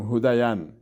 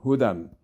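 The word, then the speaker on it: هدى: هی پیش هو دال دو زردن، اینجا هم یا تلفظ نمیشه یا ساکن است تلفظ نمیشه، گفتن نمیتونیم هودین، این غلط میشه. هودن یا تلفظ نمیشه برای که ساکن است.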